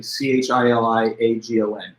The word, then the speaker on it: chiliagon: It's sort of spelled like it looks like the word chili, C-H-I-L-I-A-G-O-N, chiliagon.